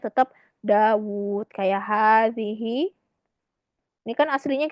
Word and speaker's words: داود: Aha, Dawud. Fiha harfun yuntak wala yuktab. يكتب Liana nahnu nuntik Dawud. Ya enggak? Pakai mat kan? Dawud. Cuma dalam penulisannya wawunya satu aja.